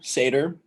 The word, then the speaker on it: seder: so question six and the passover seder i just was told that's how you pronounce that so i apologize the passover seder there's